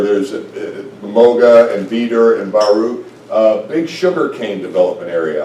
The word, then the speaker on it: Baru: The other thing we do out there, and this is in Baru, and that's spelled correctly, but we say Baru, is we dedicate church buildings.